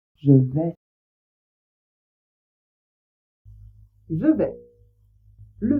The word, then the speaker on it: vais: Toujours est-il que on ne prononce pas le s à la fin. Donc je vais répéter.